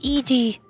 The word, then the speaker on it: Eg: It's pronounced Eg. I'm still going to call him Egg. I like Egg.